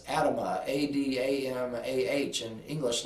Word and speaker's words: Adamah: That's no coincidence, because in Hebrew the soil is called, and I'm not going to pronounce it correctly in the Hebrew, but it's Adamah, A-D-A-M-A-H in English letters.